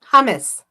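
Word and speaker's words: hummus: uncoincidentally the Hamas Hamas how do you pronounce that word what word the bean salad that Arabs eat not Hamas the other word hamus hamus that yeah salad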